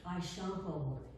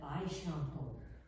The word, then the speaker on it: Eixample: I wondered whether he was playing with Catalan's X, as in Eixample, Eixample, the modernista extension of old Barcelona. You don't say example as in English, though it's spelled nearly the same, but Eixample.